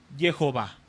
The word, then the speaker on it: Jehová: Aquí en la en la pantalla viene Yahvé o Yahweé, la pronunciación del tetragramatón más las vocales de Adonay, da origen al nombre en castellano que es Jehová.